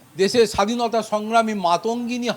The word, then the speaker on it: মাতঙ্গিনী: যিনি সঞ্চালক সঞ্চালনা করছেন তিনি এই দেশের অন্যতম মনীষী বা দেশের স্বাধীনতা সংগ্রামী মাতঙ্গিনী হাজরার নাম উচ্চারণ করতে গিয়ে তিনি তাকে মান্তাগিনী বলে উচ্চারণ করলেন তার নাম।